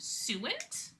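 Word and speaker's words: suint: it pronounced but it's I think it's pronounced suent.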